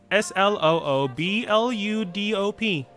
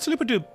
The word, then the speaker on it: Sloobluddop: But if you really want to have a pronunciation named, it is Sloobluddop. If you sound it out phonetically, it sounds like Sloob. Blue Dob. Dop. But people call it Sloopadoop. Rolls easier on the tongue.